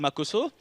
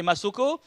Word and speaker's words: Makoso: Bon, nom je m'appelle Makoso et comme à l'école mes amis avaient souvent du mal à bien prononcer mon nom, c'est-à-dire au lieu de dire Makoso, certains m'appelaient Masoko.